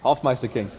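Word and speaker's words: Hofmeister kink: correctly yeah you did how do you say it half Meister King I say half Meister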